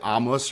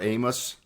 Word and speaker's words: Amos: pronouncing your name correctly is it Amos or Amos you can say either okay either okay well I